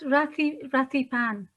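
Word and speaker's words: Rithy Panh: And How do through you pronounce that? Rathipan.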